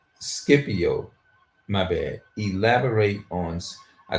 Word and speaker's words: Scipio: Elaborate on Cypio. Scipio.